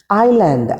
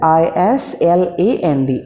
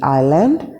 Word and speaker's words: island: Island, I-S-L-A-N-D, island, S is silent, you should not say island, it is island.